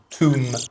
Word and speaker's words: Tomb: the famous computer game Tomb Raider not Tom brider I really wouldn't be